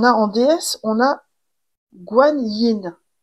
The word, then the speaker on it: Guan Yin: Alors, ici, on a en déesse, on a Guan Yin. Je pense que c'est Kuan Yin aussi qui se prononce aussi.